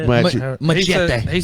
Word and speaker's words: machete: Machette, is that how you say it? Machete.